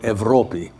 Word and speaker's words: Europe: princess whose name was in Greek they call it evropi and it's spelled e-u-r-o-p-e anyway avropy was a